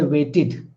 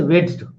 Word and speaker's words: waited: So the word is wait, wait. The final sound is t, and how will you pronounce it? You will say waited, waited. You won't say wedged. You won't say. So you will say weighted. Id you are pronouncing.